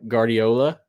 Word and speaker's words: Guardiola: I said his last name wrong. Mike Guardiola.